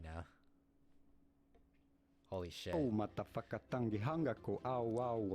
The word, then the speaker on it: whakatangi: One important thing to have in mind that most people get wrong is that WH in Maori sounds like F, the sound of the letter F, and most people get this wrong.